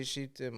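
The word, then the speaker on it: שיטים: say shitim. I'd say shitim. Okay. Which is like all over, in the it's everywhere. Rabbi Shimon Bar Yochai's mystical songs. This is Atzei Shitim Om Dim Na Na Na Na Na.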